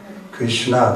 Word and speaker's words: Krishna: There's two syllables, right? Hare. No, there's two. Hare. Krishna. That's four.